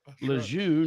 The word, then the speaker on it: Lejeune: There's no R in Lejeune. It's when I worked for a little while down there. I came across all that somebody said he pronounces his name Lejeune. I was like, well, we don't say it like he.